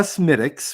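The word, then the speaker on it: Smithwick's: People in the comments, if you because here in the United States of America, if you buy a Smittix, which I will say properly now, here it tastes like the Smittix that I had in Ireland.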